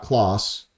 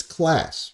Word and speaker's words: Claas: a race winning driver Class Motorsports Class, okay? Cuz the announcers keep mucking it up. It's not Claus. It's Class, people.